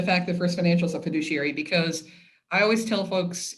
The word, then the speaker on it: fiduciary: thing about first financial is that it's a fiduciary which did i say that right because i say it wrong you did all right for fiduciary absolutely and uh so you know anyone you